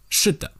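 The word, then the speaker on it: 是的: So can you feel the difference between a fourth tone and a neutral tone? 是的. The neutral tone seems to be shorter.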